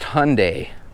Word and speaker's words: Hyundai: When it comes to Hyundai and Kia, I believe it's pronounced Hyundai, like a Sunday.